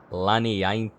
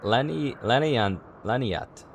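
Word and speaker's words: Laniatte: I'm gonna ignore that I before the T, because that's gonna make me say Laniainte.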